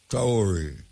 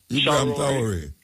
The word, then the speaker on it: Traoré: Do you pronounce his name for me, please? Traoré. Huh? Traoré.